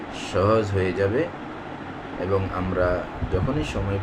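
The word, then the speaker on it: ح: জায়গাটা থেকে উচ্চারিত হবে দুই নাম্বার মাখরাজ হালকের মধ্যখান হইতে উচ্চারিত হয় যথা আইন হা আইন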